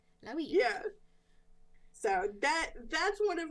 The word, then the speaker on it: Luigi: It's Luigi. Luigi. If you just say it like with like a very, very stereotypical Italian accent, you'll got it. Like Luigi.